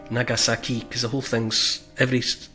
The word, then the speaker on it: Nagasaki: When it comes to pronouncing Japanese names, all syllables have the same stress. So we tend to say things like Hiroshima or Nagasaki.